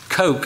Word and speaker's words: Koch: Koch, I've learned how to pronounce that correctly.